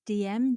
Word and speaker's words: Diem: And I think it's pronounced Diem, DIEM, and it's a social search engine.